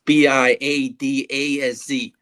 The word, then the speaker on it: Biadasz: It's Biadasz, but I'm just going to call him the Badass.